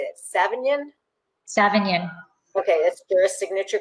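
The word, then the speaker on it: Savagnin: region are seven how do you say that savion savion okay that's your signature grape tree lussard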